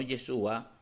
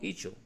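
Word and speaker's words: Isho: interesante y es que estos cristianos pronuncian el nombre del señor no yeshua sino icho yeshua no fue transmitido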